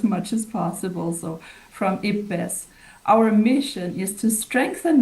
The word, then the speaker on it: IPBES: It's IP pronounced IP like your hip and best like best. So um we try to adhere to that as much as possible. So from IPBS, our mission is to